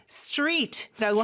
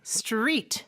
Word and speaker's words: street: 그래서 street라고 하면 R 발음이 가장 크게 나야 되거든요. street. 네, street.